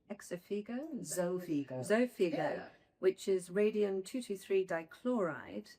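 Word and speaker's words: Xofigo: So turning now to combination data and that oh for the night I pardon the pronunciation exopigo zigo zofigo which is radium 223 dchloride uh the data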